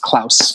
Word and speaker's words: Klaus: If it's spelled with a K, it's pronounced Klaus as the name.